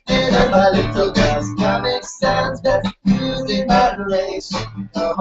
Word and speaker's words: Sans: The sans part is actually French, so it should sound like Comic Sans.